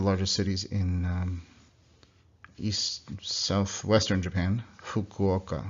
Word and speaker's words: Fukuoka: Fukuoka. It's like again this puff of air.